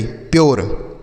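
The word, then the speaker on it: pure: तो इसे हम क्या पढ़ेंगे, देखिए पी से आधा प पढ़ेंगे, यू के बाद आर ई है तो यू का जो उच्चारण होगा यो के रूप में, आर ई से र, ये लिखा गया ई, प्योर।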